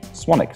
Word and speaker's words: Swanwick: so it's speltz one week even though it's pronounced swan 'ok so yeah get me on me on my